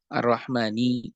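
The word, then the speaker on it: الرحمن: Kenapa Ar-Rahmani Ar-Rahimi dibacanya kasroh? Ar-Rahmani Ar-Rahimi. Karena Ar-Rahman dan Ar-Rahim adalah sifat Allah.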